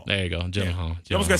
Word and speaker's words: Gyllenhaal: Jake Gyllenhaal. Yeah, see? Yeah. Just say Gillette. That's trending anyway. See, I have some comedic timing. Just say Jake Gillette. Gyllenhaal. There you go. Gyllenhaal.